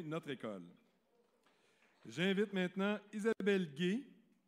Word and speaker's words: Gay: J'invite maintenant Isabelle Gay à remettre la... On prononce bien le Gay parce que des fois, on se trompe entre Guy et Gay, fait que là, il faut faire attention.